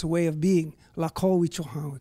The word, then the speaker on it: Lakota: Lakota, we call it. And did I pronounce it right? Lakota, yeah.